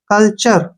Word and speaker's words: culture: और यू साइल रहेगा इसको हमने कोल्टर नहीं पढ़ना है सी यू से बना सी से बना क और एल से बना ल ठीक है ना कल और टी से बना हमारा च यू आर ई से र कल्चर कल्चर का मतलब होता